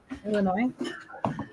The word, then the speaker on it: Illinois: where is Nick live Illinois okay well she said it right what's up in Illinois yeah about so you put the S I do that to